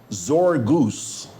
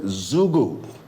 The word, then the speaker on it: Zugu: He says, George, what's Zorgose? Z-O-R-G-O-O-S-E. How do you spell it? Well, John, to begin with, I never said Zorgose. Z-O-R-G-O-O-S-E, or Zorgose. I said Zugu.